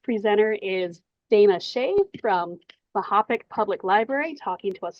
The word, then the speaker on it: Mahopac: I am I'm a library assistant in the youth service area of our Mahopac Public Library, is how it's Mahopac. That's how it's pronounced.